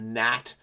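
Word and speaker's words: gnat: here winged pest is a gat silent G uh there's a g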